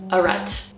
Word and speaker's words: arête: Arête. That is the way that us Americans pronounce it.